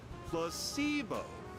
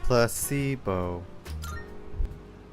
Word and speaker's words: placebo: today repeat after me placeo the stress is on the middle syllable placeo very good you're figing